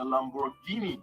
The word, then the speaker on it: Lamborghini: a lamborghini it's the lamborghini correct it's gh in the lamborghini brand name and that is a hard g right like hey coincidence